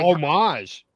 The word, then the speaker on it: homage: The H is Yeah, the the H is silent because like what in in France there's no H.